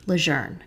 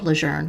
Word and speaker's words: Leger: the camp was originally called Leger when he was at boot camp, but over time it became pronounced the other way because of how it's spelled.